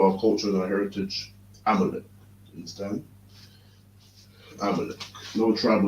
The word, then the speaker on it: Amalek: Amalek.